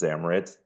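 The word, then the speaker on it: Xmrit: source tool called um it's spelled out like XMR but it's pronounced zamit um and it's just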